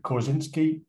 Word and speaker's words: Korzybski: territory it is the idea by gentleman alfred kozinski that's how you pronounce his name i think the only usefulness